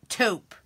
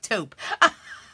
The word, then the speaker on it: taupe: long o T Oh taupe taupe taupe did I do it right like taupe like rhymes with rope but with the T I drain is that